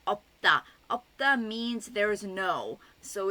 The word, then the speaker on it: 없다: used with words like 없다. 없다 means there's no. So it's used quite often and it's piup siut, so the piup is pronounced. So 없다, 없다.